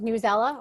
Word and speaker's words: Newsela: So if you're thinking about differentiated contextual reading, most of us are familiar with Newsela or News ELA, depending on your camper pronunciation.